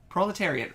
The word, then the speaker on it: proletariat: Is that how it's pronounced? Yeah. Proletariat.